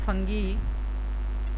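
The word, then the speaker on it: fungi: जो यहाँ पर हमने देखा कि मोड ऑफ ऑब्टेनिंग न्यूट्रिशन में लाइक फंगी या फंजाई भी आप इसको प्रोनाउंसिएशन कर सकते हो, तो इनका जो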